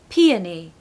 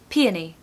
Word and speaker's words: peony: vowels in it but let's break it down P you're going to stress that first syllable too so p uh schwa in the second syllable Pia knee really long e sound at the end peony peony and then when you speed it up it sounds like how it's supposed to sound so peony peony and